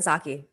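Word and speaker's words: Psaki: press secretary uh john saki saki i always make a mistake in how to pronounce it there's a p at the beginning i think yeah she's greek anyhow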